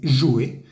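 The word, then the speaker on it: jouer: nuevamente del grupo uno se escribe J o u e r se dice yue y cuando está conjugado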